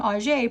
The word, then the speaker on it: Auger: My surname, Auger, pronounced Auger, is derived from the French personal name Auger, which it itself derived from the Old German name Algerius, which means noble spear.